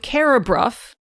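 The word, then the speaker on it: Carrawburgh: So with carabruff and generally with that rough bur suffix in the Cumbrian dialect, you have both the f sound coming in at the end and you have the r and the vowel switching places.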